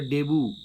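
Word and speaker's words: debut: এবারে আনসিন থেকে 4টে মানে রয়েছে, তাহলে ফার্স্ট পাবলিক পারফরমেন্স মানে হচ্ছে ডেবু, উচ্চারণটা ডেবু।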